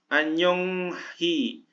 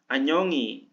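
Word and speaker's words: 안녕히: Anyong hi, Anyongi.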